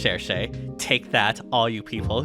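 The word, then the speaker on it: Cherche: It's pronounced Shershay. Take that, all you people who try to correct me. But anyways, yeah, like Shershay is basically like a brave.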